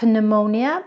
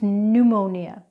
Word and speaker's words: pneumonia: let's go through those words again it's not pneumonia it's pneumonia it's not psychology or psychic it's psychology or psychic it's not receipt its receipt.